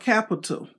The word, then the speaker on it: Qapital: phone anywhere and uh it's called Capital it's spelled with a Q instead of a c it's spelled q a p i t a l and let me show